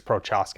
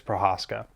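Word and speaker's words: Procházka: what's scary about Jiri Prochazka. I believe that's how you say his name. I don't think it's Prochazka. I believe it's Prochazka.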